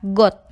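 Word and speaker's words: год: Pasangan huruf keempat adalah D yang dibunyikan dengan T. Contohnya pada kata got, yang artinya tahun.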